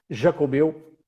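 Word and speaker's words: Xacobeo: é um ano Jacobeu, ou Jacobeu com X, como se pronuncia na Galiza, Jacobeu, ou um ano santo.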